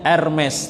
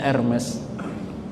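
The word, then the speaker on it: Hermès: dari kulit buaya namanya ermes tulisannya Hermes bacanya ermes itu harganya sangat mahal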